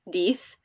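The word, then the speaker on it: Death: Lacey, I liked Deeth too. Yay! Also, I think it's hilarious that it's pronounced Deeth.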